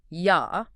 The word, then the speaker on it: Yah: Well, in the original Hebrew text of Psalm 68:4, there is a shortened poetic name for God, Yod, which is traditionally pronounced Yah.